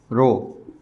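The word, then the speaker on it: ρ: Syntax में हमारे पास ये जो ऑपरेशन नोटेशन है, इट इज़ कॉल्ड रो। रो इसको प्रोनाउंसिएट करते हैं।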